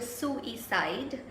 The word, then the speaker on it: suicide: actually is pronounced a suicide it's got three syllables so each side what